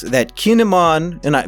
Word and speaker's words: Kin'emon: that kinemon and i people make fun of my pronunciation they say i pronounce it like a pokemon kinemon is a keen emon i don't care i'm gonna call him kinemon do i double down